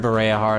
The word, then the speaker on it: Bareahard: someone say them yourself so because I've heard bah hard I know how to say it that's correct that's correct after which point it would be necessary to switch again at bah hard it's situated at the very remote part of